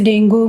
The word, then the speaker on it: डेंगी: Malaria तो बहुत दिनों से रहा भी है, लेकिन डेंगू को हम लोग डेंगी बोलते हैं, उसका प्रोनाउंसिएशन सही डेंगी है।